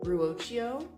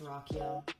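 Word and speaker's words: Ruocchio: I finished Empire Science last night, book one in the Sun Eater series by Christopher Ruo. It's pronounced Rockio.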